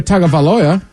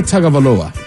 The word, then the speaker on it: Tagovailoa: Tua Tagovailoa, he was benched during the Dolphins game for